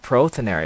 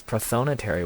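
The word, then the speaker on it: prothonotary: wrong the whole time it's not proteinary it's protonatory warbler and that's why i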